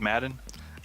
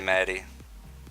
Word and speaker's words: Maddie: Is that how you say it, Madden? I say Maddie. Yeah. Mad D, and I just don't try to say the H or N. It's Maddie.